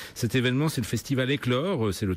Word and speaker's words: Eklore: C'est presque demain, et Éclore s'écrit E-K-L-O-R-E.